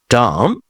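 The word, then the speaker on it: dumb: ডাম, মুখ বা নির্বোধ। না, ওয়াশার, অসার, লাম, ভেড়ার বাচ্চা। আসুন আমরা আরো কিছু সাইলেন্ট বি যুক্ত শব্দ দেখে দিতে পারি।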